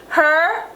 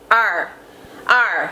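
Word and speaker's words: ar: Her. H-E-R in English. Her in Patwa. H-A-R, or maybe it could be A-R in Patwa because Jamaicans don't pronounce the H, and I don't know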